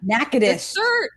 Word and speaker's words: Natchitoches: the smaller similarly named natchitoches louisiana knackers yeah that's how you say it i only know that